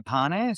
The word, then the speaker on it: Pane: Best way is to just go to Pane. So the surname is pronounced Pane by the way, Tom, which means bread in Italian.